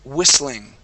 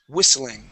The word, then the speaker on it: whistling: so this word here this is whistling whistling whistling good yeah so that te is going to be silent whistling okay um and this